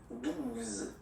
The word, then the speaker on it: douze: O, E, the sound ooh, okay, and then z, douze, douze, alright?